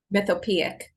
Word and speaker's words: Mythopoeic: I was going to ask you how to pronounce it. I should ask you before. Mythopoeic? Mythopoeic. I'm sorry, one more time? Mythopoeic.